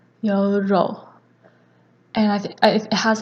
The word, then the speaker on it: 연료: and in Korean it's your role and I think it has like a weird pronunciation where it's written as like 연료 but then the ㄴ becomes ㄹ the second word is